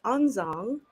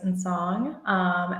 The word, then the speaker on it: Ntxoo: about your name, Onzong, because it's spelled Ntxoo, but it's pronounced Onzong. So tell me a little bit more about that. Yeah, for sure. So, for everyone who doesn't know, my name is Nsong, and I entered Web3